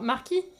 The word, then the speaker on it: Marquis: Ton i, tu le prononces moins fort. Marquis.